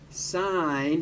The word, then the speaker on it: sine: and hypotenuse is for sine adjacent hypotenuse is for cosine and tangent is opposite over adjacent notice that when we talk about s-i-n we're not pronouncing it sin we always pronounce it sine just like with cos